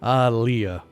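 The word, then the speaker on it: Ah! Leah!: Iris on a live version of his song aiah that one's always tough to pronounce in person because on the record it's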